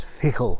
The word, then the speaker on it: fidchell: I should be pronouncing that as fichel, if I'm not mistaken.